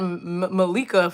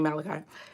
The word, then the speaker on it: Malachi: I said Malika for somebody the very first time I said it. And I was like, that is not right. It is definitely Malachi.